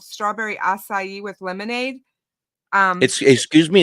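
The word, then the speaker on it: açaí: this which is like a it's called strawberry asai with lemonade um excuse me it's called what strawberry assai e with lemonade i e assai a c a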